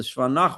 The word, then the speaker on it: Shva Nach: So there's a thing as a Shva Na, which moves, meaning you pronounce it as an I, and there's a Shva Nach, which is silent, right?